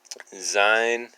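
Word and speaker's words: זין: sound okay so now we know how to pronounce this it's um zein that's you vets it's kind of hard to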